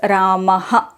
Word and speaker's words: रामः: they pronounce it as Raha the ha sound is more strong in the South whereas Pia shika says it should be very light Rah but in South we pronounce it as Raha which I considered as